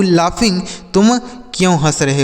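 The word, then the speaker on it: laugh: यहां जी एच से घ नहीं होगा बल्कि फ हो जाएगा। लाफ मतलब हंसना होता है।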